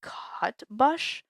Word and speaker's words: Cutbush: It is Thomas Cutbush, Cutbush. I pronounce it cutbush.